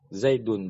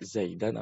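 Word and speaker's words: زيد: file itu harus mampu makanya bacanya ja'a zaidun bukan Jakarta Zaidan atau jar.zip Kemudian yang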